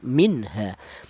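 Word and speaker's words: مِنْهَا: matinya ini dibaca jelas minha. Jangan nun matinya ini dipanggil C samar jangan minha ha. Salah ya. Yang betul nun matinya ini dibaca jelas atau dibaca izhar namanya ya. minha idhar.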